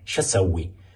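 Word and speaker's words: شو سوي: شو سوی. این شو سوی دو تا کلمه است، ش و اسوی که الفش حذف شده. یعنی شنو اسوی که در تلفظ میگن شو سوی یعنی چی کار کنم.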